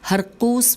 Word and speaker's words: ہرقوس: جاری رکھتے ہوئے خوارج کے رئیس و سردار ہرقوس بن ظہیر، ہجے کر لیتے ہیں نام کی، ہیر قاف